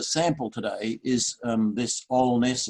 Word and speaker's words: Alness: today is um this all-ness as it's pronounced it's in an area